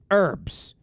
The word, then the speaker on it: herbs: Herbs. You're not supposed to pronounce the H in the word herbs.